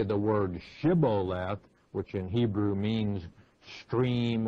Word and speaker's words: Shibboleth: the the Ephraim i'ts could not pronounce the SH sound and so they had made him say the word Shibboleth which in Hebrew means